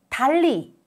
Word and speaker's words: 달리: Consecutive two 르 sounds are pronounced as L sound in Korean. 달리, 달리, 달리.